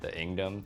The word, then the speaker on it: Inkdom: - I call my viewers, the Inkdom, the k is silent.